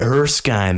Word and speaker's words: Erskine: Eric Stein how do you say that Ben Erskine Erskine there we go he recruits him for a